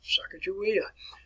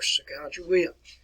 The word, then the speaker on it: Sacagawea: Her name was Sacagawea, or Sacagawea. Several different pronunciations on that.